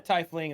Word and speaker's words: tiefling: And then scroll down to Tiefling, and then Oh, is Are- it pronounced tiefling?